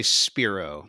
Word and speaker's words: Spiro: the company name right i usually say spiro and here we take uh we we come from the word uh spirari which is latin for breathe and we're trying to